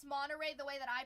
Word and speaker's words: Monterey: I saw this video saying that like Californians don't like to say the the T in words. It It's not Monterey. It's Monterey. Like when you say like Santa Cruz, it's not Santa Cruz. When you say it's another one like apparently we don't pronounce our pronounce our T's, which I mean I don't know.